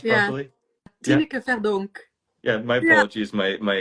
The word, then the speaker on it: Tineke Verdonk: Did I pronounce it yeah. properly? Yeah. Tineke Verdonk.